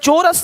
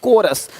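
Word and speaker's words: chorus: यहां पे क्या लि चोरस नहीं कोरस देख रहे हो शिफॉन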